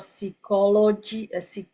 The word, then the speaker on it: psychology: Okay, instead of psychology. Okay, so in English it's pronounced as cycle.